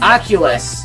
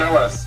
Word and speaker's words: Ocellus: Ocellus. Ocellus. Oh. Yes, Ocellus. Why did I say Oculus? It's spelt weird on here. Okay, Ocellus. I knew that didn't sound right, and I was like, oh, okay.